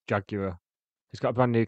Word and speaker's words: Jaguar: I was watching some videos of him playing this in the last few years, and he doesn't pronounce it Jaguar anymore. He just pronounces it Jaguar.